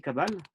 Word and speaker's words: Kabbale: Kabbalah en français, on dit Kabbale.